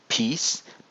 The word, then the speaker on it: peace: O yüzden yan yana gelen harflerde bunu işlemeyeceğim ama burada peace peace iymiş gibi okunuyor. I ve uzun i.